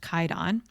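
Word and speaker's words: Kwaidan: It's pronounced Kaidon.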